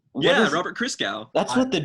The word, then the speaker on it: Christgau: That's how it's pronounced? Robert Christgau.